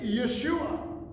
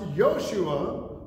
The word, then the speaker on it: Yeshua: Well, the name Yeshua, which can also be pronounced Yoshua or Yehoshua, depending on which way you emphasize the Greek, the Hebrew letters.